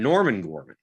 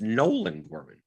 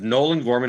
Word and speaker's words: Nolan Gorman: kirkwood says storm in norman gorman it's nolan gorman we're getting his first name wrong it was nolan gorman i said nelson gorman he says norman